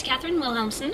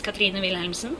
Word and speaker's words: Cathrine Wilhelmsen: so my name is Katherine willamson I'm from Norway uh and if you are Norwegian my name is Kina willson but not a lot of people can pronounce that yes that's very hard